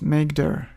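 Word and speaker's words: mkdir: Linux we use mkd command which is usually pronounced as makeer so we type makeer then folder name enter and here's a new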